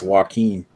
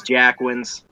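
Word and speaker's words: Jacquin's: is it 750 milliliters pronounce Joaquin no it's Jack wins there were fog kids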